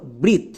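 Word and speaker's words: breath: Next এ, এ এখানে silent. TH এর জন্য হয়ে যাবে থো। এই ওয়ার্ডের উচ্চারণটা দাঁড়ালো ব্রিথ, বি আর ই এ টি এইচ, ব্রিথ।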